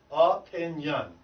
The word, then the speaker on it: opinion: So the way you would write that word phonetically means how it sounds, would be or A-H, pin, P-I-N, and then Y-U-N, yun, opinion. Opinion. Opinion. Opinion. There's no N in the beginning. Pin, yun. That's the correct pronunciation of that word.